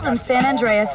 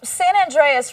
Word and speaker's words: San Andreas: Ooh, San Andreas rhymes with Dr. Zaius.